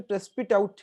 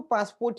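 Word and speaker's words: Passepartout: सिर्फ फॉग ही नहीं, बट पासपोर्ट भी उसको अपना जो एक्चुअली उसका सही प्रोनाउंसिएशन प्रेस्पिट आउट है, प्रेस्पिट आउट, बट हम उसको पासपोर्ट ही कहेंगे क्योंकि वो आपको ज्यादा अच्छी से ध्यान में रहेगा।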